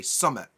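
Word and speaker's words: summat: sound the same word we would say summit summit summit summit like the top yeah like the supper mountain right but yeah I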